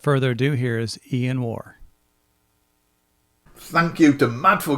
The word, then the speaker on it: Waugh: I've also learned that I don't pronounce his name correctly I say Ian wah but it is Ian War so thank you for